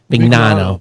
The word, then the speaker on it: Mignano: He says, hey, regarding and I pronounce his name wrong every time, Mignano, or how do you pronounce his name? The guy from Anchor, the old CEO. Mignano.